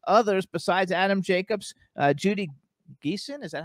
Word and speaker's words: Geeson: it stars, among others, besides Adam Jacobs, Judy Geeson. Is that how you pronounce her last name?